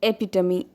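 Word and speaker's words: epitome: या सो the fourth word is एपिटमी। यहाँ भी प्रोनाउंसिएशन का ध्यान रखिएगा।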